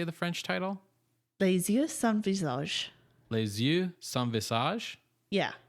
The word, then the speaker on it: Les yeux sans visage: Les yeux sans visage.